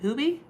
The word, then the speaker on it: Hubie: Nancy Grace case look daily Kayla Day William is it Hubie or Hub? Oh, pronounced Hubie.